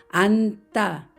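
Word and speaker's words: 앉다: 말을 먼저 보겠습니다 겹받침 니은 치로 된 말 안따 여기에서 앞에 있는 니는 발음이 되고 지은 뒤로 이동이 되면서 따라는 된 소리가 됩니다 그래서 안따 안따 이렇게 읽습니다 그러면 몸을 만나면 어떻게 될까요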